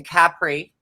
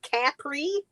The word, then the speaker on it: Capri: Is that how you say it? Capri? That's It's how he Capri. says it. Crazy. We say Capri.